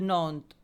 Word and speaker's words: Nantes: And this is river Loire, and Nantes, S is silent, so it is pronounced as Nantes.